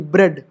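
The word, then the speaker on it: bread: है जैसे देखो बी आर ई ए डी ब्रेड ठीक है तो अब यहां देखो ए साइलेंट हो गया ईडी जैसे अब अगर मैं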